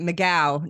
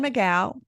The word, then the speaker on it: McGough: Well, actually, she pronounced it McGough now. Lauren McGough.